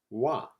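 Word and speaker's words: は: Our first connector is usually pronounced ha, but when used as a connector, it is pronounced wa. Ha becomes wa when it's used as a connector.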